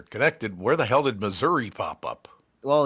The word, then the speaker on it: Missouri: where the hell did Missouri pop up well it's it rhymes with misery for a reason yeah oh very good